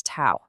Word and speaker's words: tau: Okay, so K is still our gain, but the new star of the show here is this Greek letter tau, which we pronounce tau.